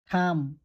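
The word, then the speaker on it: thumb: তার মানে be silent থাকে প্রথম শব্দটি কেনেকে উচ্চারণ করিবা ক্লাইম ক্লাইম থাম থাম কম কম ডাম ডাম ডাম মানে হইছে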